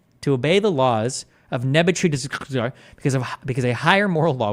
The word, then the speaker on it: Nebuchadnezzar: It's pronounced Nebuchadnezzar.